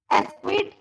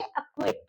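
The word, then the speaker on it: acquit: एस्क्विट या अक्विट, एस्क्विट ऐसे नहीं बोलेंगे हम, यहाँ पे सी जो है उसको साइलेंट कर देंगे तो हम प्रोनाउंस करेंगे अक्विट।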